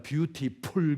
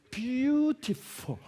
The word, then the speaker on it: beautiful: 뷰티풀이 아니라 beautiful. 뭐가 달라요? 풀은 입술 가지고 하니까 풀. beautiful. 뷰티풀이 아니라 F 아닙니까? F-U-L-L. F의 발음은 입술 가지고 하는 게 아닙니다. 운니하고 아랫입술하고 하는 거예요. 그래서 하지 말고 그래서 beautiful.